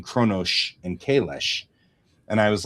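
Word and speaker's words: Qo'noS: which is interesting because Kronos is pronounced Kronosh with an SH, and Kalis is pronounced Kalesh with an SH. Klingon tends to not have the trailing S. It tends to have an SH.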